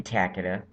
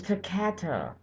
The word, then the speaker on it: Takata: with 4.3 million vehicles thank you takada or takata oh i've been saying it wrong this whole time it's takata the tap to cater